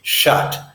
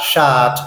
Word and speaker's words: shut: this is good but note the pronunciation it's shut it's that open mouth American English sound it's got shot I don't shot the door I shut the door I call you on